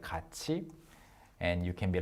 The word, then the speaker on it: 같이: a fairly easy word, you learn that it's pronounced like 같이, and you can be like, how am I supposed to know that this 갓 plus E is not 같이, but 같이?